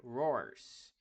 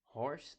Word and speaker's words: horse: som do h né então Horse não é rse Horse é Horse que é semelhante ao R do Brasil né Por exemplo rapidamente